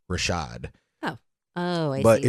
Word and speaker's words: RVSHVD: but it's it's pronounced Rashad oh oh I see the V is the a yeah but it's a